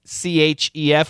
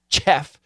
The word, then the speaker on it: chef: C-H-E-F. We do not say chef. We say chef with an S-H sound.